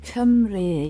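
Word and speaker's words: Cymru: Kimru, how do you say it? Camry.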